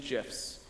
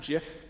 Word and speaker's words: GIF: with one of these GIFs. And I work in technology. It's pronounced GIF, not GIF, okay?